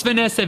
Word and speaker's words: Vahnessa: That's Vanessa VAHNESSA. There's an H. There's a silent H in there.